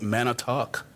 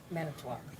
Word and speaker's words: Manitowoc: if I hope I'm pronouncing, because my Wisconsin pronunciation is not always on point, Manitowoc. Manitowoc. Okay. Manitowoc, yeah.